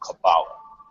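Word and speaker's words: Cabala: And I'll just tell you right now, the name of that juice is called Kabbalah. Kabbalah. It's just an acronym. You spell it C-A-B-A-L-A.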